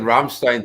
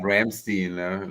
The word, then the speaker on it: Rammstein: I appreciate you saying Rammstein too, and not Ramstein, like a lot of people do sometimes.